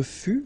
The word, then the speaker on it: fus: Je fus, okay, keep in mind that final S is not pronounced.